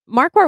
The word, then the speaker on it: Marquardt: My last name is not Loops, but it's Marquardt with a silent D.